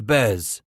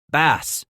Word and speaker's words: Bass: Titus. Bez. No. Scratch corrected. Ba. Ba. Bass.